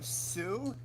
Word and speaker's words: Sioux: Sioux village. I think that's actually a legit... That's an It's pronounced Sioux.